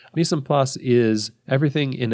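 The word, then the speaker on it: mise en place: that chefs have called me sand puss that's everything in its place it's French and I didn't pronounce it in a French way me some pus is everything in its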